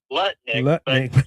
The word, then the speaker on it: Lutnick: He calls it uh Lutnick.